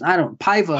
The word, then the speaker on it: Paiva: Paiva. Hollyon's what I've heard. Hollyon? Hollyon okay. Paiva. Hollyon Paiva knocks out Mark De La Rosa in the second round. Man, just the Paiva was just obviously the harder puncher here.